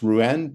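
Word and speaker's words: Rouen: he flies it to I believe it's ruen pronounced ruen to a marshalling yard railroad railroad yards uh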